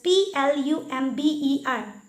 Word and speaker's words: plumber: P-L-U-M-B-E-R. Plumber. But that is wrong. The correct pronunciation is plumber. Plumber. B to yet silent hoye ase.